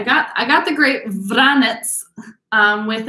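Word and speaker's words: Vranec: i got the great vranets um with again that c is like a t z so vranets is how the grape is pronounced veritas is just the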